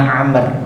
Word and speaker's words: Amr: Jadi kalau ain mim ra enggak ada wawunya itu bacanya Umar. Kalau ada wawunya bacanya Amr, paham nggih?